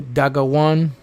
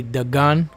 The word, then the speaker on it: Dagon: Dagon, Hebrew, Dagawan. Or more accurately, Dagon. That's really how you say it, Dagon, or in English, Dagon.